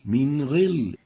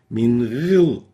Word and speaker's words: من غل: An example is min ghil. You can see the kasra below the ghil, and the way it's been pronounced is wrong. Min ghil. This is wrong. The right way of pronouncing it is like this. من غل. Min ghil. So we don't over-velarize or exaggerate the tafkhim of the ghain.